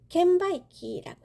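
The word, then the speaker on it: 券売機: 이런 식권 판매기를 켄바이키라고 해요. 번매기라고 해서 켄바이키.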